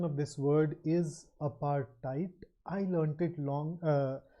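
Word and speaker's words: apartheid: case you are not aware of it the pronunciation of this word is aparti I learned it long uh I learned it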